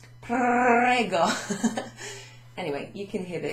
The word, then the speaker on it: prego: Now, for someone like me, it's often difficult to pronounce the see, I think I need a drink. The R. There you go. If you get it at the back of your throat, kind of prego.